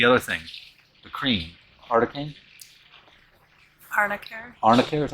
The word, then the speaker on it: Arnica: Arnicare?